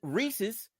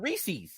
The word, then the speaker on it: Reese's: it's GIF so the guy who created Reese Reese's which is his last name which is how you pronounce it people up State call it reesei reees you know what when I was at